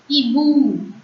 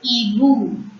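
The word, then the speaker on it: hibou: H-I-B-O-U. Ibu. O-U. In French is pronounced as U. So Ibu.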